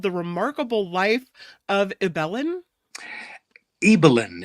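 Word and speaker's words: Ibelin: list is called the remarkable life of eellen eelin it's pronounced yeah eelin it's it's Norwegian yeah um yeah the remarkable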